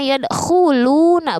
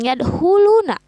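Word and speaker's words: يدخلون: Terus pada kata yadkhuluna kho di sana keluarnya dari pangkat tenggorokan. Membacanya yadkhuluna bukan yadkhuluna.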